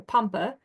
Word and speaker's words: Pompe: Dr Johannes pompe or if you're Dutch or european uh you might hear it pronounced Dr Poma um and he first